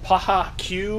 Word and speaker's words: Paha Que: we know but the company is called paja cue wilderness I think it's how you say it PAH a new word